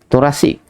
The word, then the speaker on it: thoracic: Kata apa sebutan dia yang betul, pronunciation dia yang betul, THORECIC, thoracic.